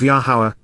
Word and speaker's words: Yahowah: and yield fruit, of Yahowah, Yahowah, the proper pronunciation of Yehovah, our Eloah, God has